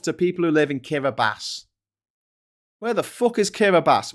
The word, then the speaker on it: Kiribati: And also, it's pronounced Kiribati, but it's spelled Kiribati.